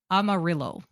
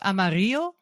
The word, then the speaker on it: Amarillo: So, our first entry is Amarillo. Oh, that's a city. It is. Yes. Texas. Yes. Yeah. It's actually It's probably pronounced Amario because it's the Spanish word for yellow.